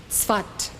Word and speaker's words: Tzfat: It is spelled S-A-F-E-D, but it's pronounced Tzfat.